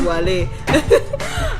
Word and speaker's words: Wallay: 100 different pronunciation yeah I wrote about Wally on website called cinema because that's my that's my pronunciation is Wally I wrote about it